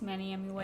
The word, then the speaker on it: Manny MUA: out of drama, but also like Trisha Paytas, Manny MUA.